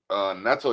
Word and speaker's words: Neto: Neto Youth is Neto Youth, like y'all need to NETOYUTH. You know what I mean? Rhymes with ghetto, but spell it Neto.